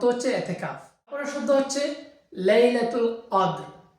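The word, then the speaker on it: ليلة القدر: এতেকাফ তারপরের শব্দ হচ্ছে লাইলাতুল কদর এটা হচ্ছে কোরআনে ব্যবহৃত দুইটা শব্দ এজন্য আমি বলছি উচ্চারণ হবে লাইলাতুল কাদর তো লাইলাতুল কদর অর্থ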